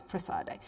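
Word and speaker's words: Prassede: to the church of, in English we say Praxedes, in Italian it's Prassade.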